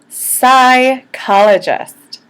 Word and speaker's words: psychologists: a K and then psychologists you'll notice that P s is pronounced like an S you don't pronounce the P you don't say psychologist